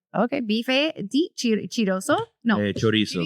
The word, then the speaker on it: chorizo: Signature dish is beef de chiroso. Bife. Yeah, bife. But it doesn't have a little chink behind it. It's just say bife. Okay, bife de chiroso. No, chorizo.